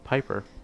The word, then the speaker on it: Piper: Piper. Or Pipper, stop depending on how you want to pronounce it.